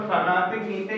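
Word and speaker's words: fraternité: जैसे फगातिक नीते, तो फगातिक नीते का मतलब हो गया ब्रदरहुड। पहले मैं इसका प्रोनाउंसिएशन लिख देता हूँ, फगातिक नीते हो गया ब्रदरहुड।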